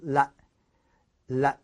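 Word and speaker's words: لا: and then no is really simple no means la la la la that means no then we go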